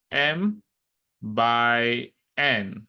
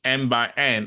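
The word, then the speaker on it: m × n: say it as um M so said as M by n that's how you pronounce it so it's not M multi by n it means M by n and we use this to determine the order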